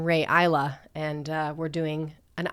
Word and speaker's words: Rae Isla: Hey, what an auspicious day to share that I'm pronouncing my name Ray Isa and uh we're doing an island song.